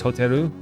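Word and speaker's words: ホテル: I say hotel, but they don't really have the L sound in Japan. So for me, it's hotel. For them, it's hoteru. So kind of the same word, but they have 3 syllables for it, whereas we only have 2.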